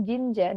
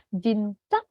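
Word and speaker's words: 진짜: huruf c C Oke jadi mulai sekarang yor pun tidak boleh bilang Jinja dengan huruf j ya karena tulisan Jinja sebenarnya kayak gini Jin kayak gini jnya double nih nanti cara bacanya ini harus pakai huruf c jadi jinc gitu jinc bukan Jinja ya tapi jinc G oke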